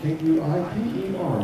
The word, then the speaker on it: Kuiper: here okay thank you like k-u-i-p-e-r like the Kuiper belt like yeah all right